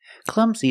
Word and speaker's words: clumsy: he is Clumsy pronunciation the U is short it makes the uh sound like cup and up CL Clum Z the S makes a z sound like zebra clums Clum Z and the last sound is a long e like green beans clumsy clumsy the stress is on the first syllable clumsy he's really clumsy